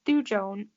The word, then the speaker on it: thujone: It's thujone.